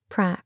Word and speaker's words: Pra: She pronounced it Pra. Pete said, "Pra." The android paused on its way toward the kitchen cooking area. Pete continued. As in practis action.